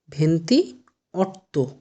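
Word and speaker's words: ventotto: 28 কি উচ্চারণ হবে? ভেন্তি অট্ট।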